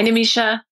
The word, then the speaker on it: Nimisha: Hi, Nimisha.